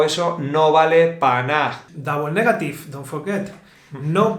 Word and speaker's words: na: And this equals no vale para nada. Ok. Don't forget. It's like it's worthless. It's No vale para worthless, nada. no vale para nada. You also can say na, for example.